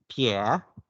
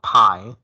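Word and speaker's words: 撇: is the downward left stroke in mandarin it's pronounced as p pierre pierre not pie it's pierre pierre okay like it's downward going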